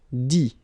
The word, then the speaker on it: dit: Dit. Okay, phonetically, same thing here. You don't pronounce the final T.